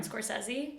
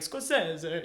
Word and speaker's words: Scorsese: Martin Scorsese. Yeah. Did I do it right? Yeah. Oh, let's fucking go. I feel like, honestly, like, I feel like the Italians would say, like, Scorsese, you know?